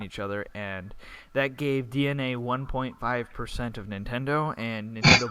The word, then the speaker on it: DeNA: They bought DNA, pronounced DENA, or no, spelt DENA, but pronounced DNA.